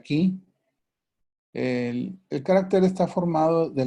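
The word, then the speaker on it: 気: Se escribe, en chino se escribe kui, se pronuncia chi, en japonés se pronuncia ki.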